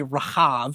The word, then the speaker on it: Rahab: This Rahab, the more accurate pronunciation is probably Rahav, so we'll go with that